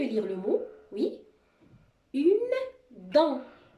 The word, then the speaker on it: dent: Une dent. Le T, c'est une lettre muette. On ne va pas la prononcer.